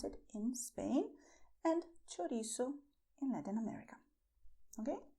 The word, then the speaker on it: chorizo: This is how we pronounce it in Spain and chorizo in Latin America. Okay? Pay attention to the sound of ch. It's like in Italian when you say ciao. The same sound.